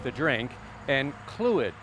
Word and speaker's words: Clwyd: It's actually pronounced tea, like the drink, and Clwyd, even though there's no K in there.